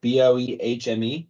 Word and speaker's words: Boehme: Just gonna say the H is silent there. Boehme. Boehme.